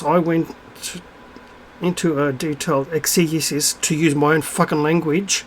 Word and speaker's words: exegesis: went into a detailed exegesis to use my own language excuses if you're going to pronounce it let's pronounce it properly your gob sheets exegesis right explanation that's all